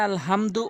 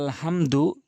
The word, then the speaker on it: আলহামদু: দেখুন সূরা ফাতিহার ওখানে আলহামদু অধিকাংশ লোক বলে থাকে, মানে এখানে দুটি হা রয়েছে। এই ছোট হা এনে উচ্চারণ করে বলে আলহামদু, যার কারণে নামাজই ভেঙে যায়। ওখানে বড় হা এনে উচ্চারণ করতে হবে আলহামদু।